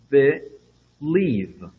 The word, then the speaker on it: believe: Observação aí, nós temos um apóstrofo entre a primeira sílaba, believe, ok? Só marcando aí a tonicidade do verbo, onde é que você deve marcar a sílaba tônica, ok? Então, nós já vemos esse mesmo sistema em dicionários. Então, onde nós temos aí esse apóstrofo, separando essa palavra, entre aspas, separando, é porque a sílaba tônica seria aí, né?